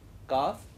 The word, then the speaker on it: calf: As you note, he read calf, calm. In English, some of the letters sometimes are silent. They are not pronounced. That L in calf and calm are not pronounced. They are silent.